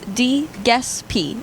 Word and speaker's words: Giuseppe: Easiest way to make sure you don't mispronounce it is DeGespy.